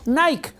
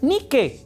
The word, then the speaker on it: Nike: entonces lo vemos y decimos Nike cuando es nicke o si lo pronunciamos en español o en griego sería ni sé Bueno ese es un